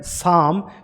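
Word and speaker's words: psalm: और दूसरा वर्ड है साम, तो इसमें भी हमने ये जो पी है इस लेटर की साउंड को जो है प्रोनाउंस नहीं किया है।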